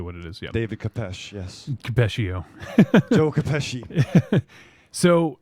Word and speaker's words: khopesh: That could be a khopesh.